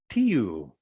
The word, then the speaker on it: Tiu: But in Anglo-Saxon culture, the god of war was called Tiu. T-I-U. Tiu. Tiu. So that the pronunciation just changed to Tiu.